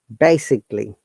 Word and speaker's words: basically: If a word has ending A-L-L-Y, A short sound, we do not pronounce A. So it should be technically, physically, basically.